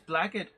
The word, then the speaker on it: blackguard: special class of blaggard but it was spelt blackguard and they thought since it was a bad guy class it must be black no it's blaggard yes it's blackett yeah